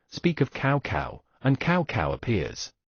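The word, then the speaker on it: Cao Cao: of cow cow, and cow cow appears. The word fuck in Chinese is pronounced as a cow as well, but the intonation is slightly different from cow cow.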